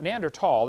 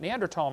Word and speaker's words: Neanderthal: know the neander th neander tall the H is silent neander tall man is named after